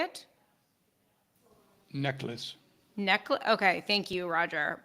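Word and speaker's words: Necheles: n NES is that how you say it necklace neckl okay thank you Roger apologies for uh mispronouncing uh the name but uh I I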